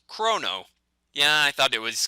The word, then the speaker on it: Chrono: default ones in which case this guy is pronounced Chrono yeah I thought it was Chrono what until